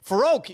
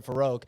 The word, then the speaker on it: Farook: farook your name uh a lot of people say farook and I'm like I've heard farook say his name I just go off of what people say their name is and I was like I've heard folk say his name and it sounds like for Oak so I'm gonna say faroak um I've heard I've